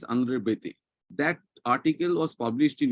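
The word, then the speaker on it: André Béteille: In if I pronounce, so for English language is concerned, that is Beteli. No, he's a French, and fortunately his mother was a Bengali, and he was a renowned Indian sociologist, where he taught in the professor of sociology in Delhi University. Andre Bete. The correct pronunciation is Andre Bete.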